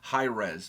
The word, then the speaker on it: HIRAES: comment section said that it's pronounced highres like high resolution oh which makes sense